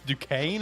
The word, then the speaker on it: Duquesne: I don't know how to say this team's name, but Duquesne. How do you say that? Duquesne. Is it Duquesne. Duquesne? What a English language is weird. English language is weird, bro. It's Duquesne. Are you serious with me?